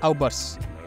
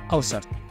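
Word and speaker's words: Äußerst: Dan Granat pun menjawab, ada satu kota sihir terbesar di kontinen utara yang bernama Aubers, atau lebih tepat membacanya adalah Aussert.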